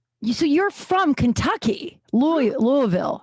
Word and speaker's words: Louisville: do you say it louisville louisville just like you've had like just a little bit of bourbon and you're starting because people say louisville right yeah that's not right that's not correct well